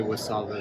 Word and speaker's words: WSAVA: Would you would you tell me a little bit about W Savva, which I cannot pronounce because we say just V was. Well, actually, I just say Wasava as well because it's so much easier.